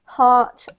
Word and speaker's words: heart: And also, don't forget, Mauro, at the end of the words, you need to pronounce the T. So art, heart, art.